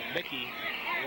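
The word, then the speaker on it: Muecke: And you know, they brought in another quarterback, Mickey, and he spells his name M-U-E-C-K-E, and it's pronounced like Mickey Mouse.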